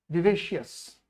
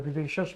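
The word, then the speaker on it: vivacious: विवेशियस, विवेशियस word जो है spelling correction में भी कई बार पूछता है। जरा आप बताइए क्या मीनिंग है इसका, विवेशियस या विवेशस भी लोग इसको कहते हैं।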